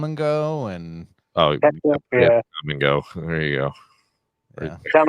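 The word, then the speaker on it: Kum & Go: Come and go. There you go. yeah. Come and go. Yeah. Isn't that the best? Because it's spelled K-U-M and go.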